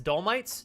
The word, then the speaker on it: Dolomites: are the M I don't know how to pronounce that it's dolomites dolomites these are the Dolomite mountains yeah good